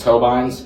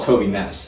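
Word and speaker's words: Tobyness: creator on the platform's name is tobins actually i just butchered it it's actually called toby ness a lot of people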